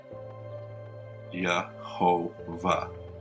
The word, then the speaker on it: Jehovah: and he said which is now pronounced yahova and is written thus